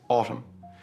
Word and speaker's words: autumn: First is autumn. The N at the end is silent, so do not pronounce it. It is just autumn.